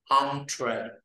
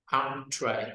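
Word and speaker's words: entrée: À, là cái chữ e, e, n đó, mình không đọc là n, mình đọc là on, on, on, on. À, mở miệng lớn là on, on, on. Entree. Entree.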